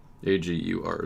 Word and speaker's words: Agur: AGUR is the spelling if you need that. How is he pronounced?